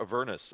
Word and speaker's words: Avernus: We are playing Dungeons & Dragons 5th edition, Descent into Avernus, or Avernus, as I've heard it alternately pronounced.